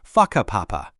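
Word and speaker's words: Whakapapa: You'll hear locals occasionally talking about places like Waka Papa, pronounced Faka Papa.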